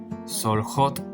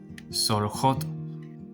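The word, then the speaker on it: סולחות: Y la pronunciación de esta palabra es soljot, pero recuerden que aquí la vocal es llamada sheva, pierde el sonido porque antes está la vav convertida en la vocal o, que es una vocal corta. Entonces, el sheva pierde el sonido y es soljot.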